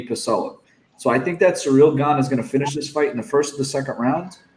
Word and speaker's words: Ciryl Gane: I didn't see the line previously, but Ciryl Gane, I believe is how you say his name.